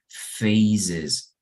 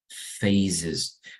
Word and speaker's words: phases: want to tell you right this word is pronounced phases phases because we also have the plural of face